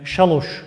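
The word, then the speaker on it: šalāš: Yani şaloş diye telaffuz edeceksiniz. Yani şaloş yazmıyor. 3 rakamı var ama şaloş telaffuzu yok doğal olarak.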